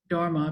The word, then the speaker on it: Dharma: We need a quick sidebar here, a little history of the word Dharma, because Dharma is the ancient Sanskrit pronunciation usually related to Hindu teachings, and Dhamma is the equally ancient Pali language often related to Buddhist teachings.